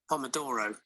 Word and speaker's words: pomodoro: before in my knife pomodoro okay so the pronunciation is a bit different pomodoro yeah pomodoro pomodoro italian italian labs um okay sauce um